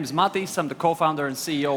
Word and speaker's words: Matiss: airman that's correct hi guys my name is Matias I'm the co-founder and CEO of cream finance